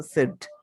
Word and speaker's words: said: SAID, সেই, সেইড বলি, কিন্তু আসলে এটা উচ্চারণ হচ্ছে সেড, এটা একটু এক্সেপশনাল, সেড, said, এটা কিন্তু সেইড না, সেড।